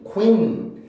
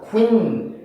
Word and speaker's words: queen: queen, queen 이게 아니라 queen, queen, queen. 제가 강세를 E로 밀어내고 있죠. 쿠에서 강세를 줄 수 없으니까 강세 못 받는 몸의 소리니까 줄 수 없으니까 E까지 제가 강세를 밀어내서 발음을 해요.